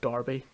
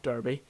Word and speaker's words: Derby: i've moved to the university of darby not derby um as you quite often get reminded um even though it's spelled with an a no no discussion for